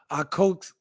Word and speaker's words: Akatsuki: That was an anime TSG pronounced Akatsuki.